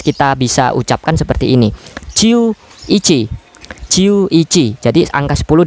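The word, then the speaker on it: 十一: Kita gabungkan ya pengucapannya seperti ini. Untuk angka 11 kita bisa ucapkan seperti ini. Ciu ichi.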